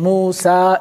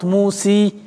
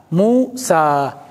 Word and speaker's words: موسى: مقصور موسى عيسى مستشفى they are written like يا with no dots But that is an alif. Even the pronunciation Musa, it's not Musi, it's not Isi, it's not Mustashfi, It is Mustashfa Isa Musa.